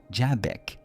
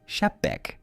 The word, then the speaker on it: Xebec: pronúncia francesa da palavra Jabek, em vez da inglesa. Portanto, lembre-se, não se pronuncia Chapek, mas com um J, mais suave como em francês, embora a pronúncia de Sheabok não seja muito diferente caso prefira.